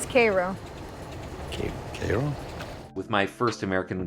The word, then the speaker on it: Cairo: I love the part where he calls it Cairo which is the Egyptian pronunciation and she says Cairo okay with my first American Gods video I